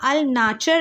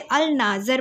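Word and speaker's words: Alnaschar: ठीक है, आप इसे प्रोनाउंस करेंगे, यहाँ अल नाचर लिखा हुआ है, नाचर, बट हम इसे ऐसे नहीं, हम इसे अल नाज़र पढ़ेंगे, राइट.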